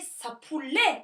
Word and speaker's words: chapuler: gibi ç harfiyle değil Çünkü Ç Fransızcada s okunur ve sapu oluyor fakat Fransızca kolay bir